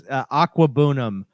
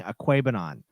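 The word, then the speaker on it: Okwuegbunam: It's not bad. It's Aquabunum. Aquabunum. During the draft, they kept saying Aquabanon.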